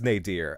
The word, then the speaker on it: nadir: N A D I R. I don't know how to pronounce that. Um, and I forgot to look it up. Nier. It is Nadier.